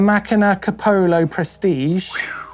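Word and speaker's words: Macina Kapoho: It is the Machina Capolo Prestige.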